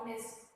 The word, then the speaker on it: honest: You can see students, honor, hour, honest. H is not a vowel, but even though we use an, because H is silent and the sound O is coming.